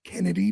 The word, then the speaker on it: Chennedy: all over uh chennedy I guess we're supposed to pronounce it Kennedy but she spells it chennedy why would you spell